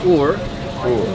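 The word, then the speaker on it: Uğur: The Turkish way is Ugur. Spelled with a G in there, but the G is silent.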